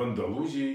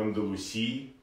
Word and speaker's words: Андалусии: В Андалузии, или как называют этот регион его жители, в Андалусии, правильно говорить.